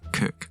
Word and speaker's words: Coke: 49 For a man's house is his castle That was Edward Coke - it looks like 'Coke' but apparently we pronounce it 'Cook' This comes from a